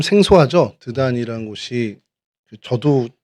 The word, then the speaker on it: 드단: 먹고 하게 됐습니다 예 히브리어로는 드단 아입니다 말 그대로 드단 이고요 이게 헬라어로 발음이 다단이라고 하는데이 다단이라는 발음이 오늘날에도이 아랍어에서 그대로 통용돼 사용되어지고 있습니다 어 그래서음 이제 뭐